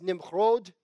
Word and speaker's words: Nimrod: 8 cush begat nimrod the name is pronounced nimrod in hebrew well to say nimrod and he began to